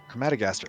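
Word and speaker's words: Crematogaster: Crematagaster? It's pretty good. Jeez. Holy, what? How do you actually say that? Crematagaster? Crematagaster. Oh, okay. No, that's too many syllables for me.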